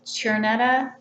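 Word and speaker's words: Czerneda: her, and I think the CZ in her name is Chernetta, Julie C. Chernetta, I believe, is how she pronounces it.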